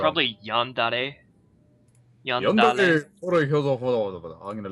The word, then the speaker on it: Yandere: Shade goes Yandere for Shredder.